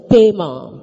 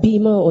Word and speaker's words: Bema: The Greek translation for the term judgment seat of Christ is Bema. அதை சிலர் பீமா என்று உச்சரிக்கிறார்கள். Certain people call it as Bema also.